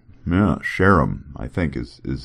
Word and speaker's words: Sherem: One of them, the one the guy I kept calling Sherem. Apparently, it's supposed to be like Sheram. Yeah, Sheram, I think is is how it's supposed to be.